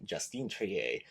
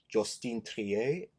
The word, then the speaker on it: Justine Triet: Sorry, girly, almost got your name wrong. I was like, wait, there's an E, so it's Justine Triet. Justine Triet? I don't know how we say it in French, en français, but like Justine Triet, starring Sandra Hüller in an Oscar-worthy performance.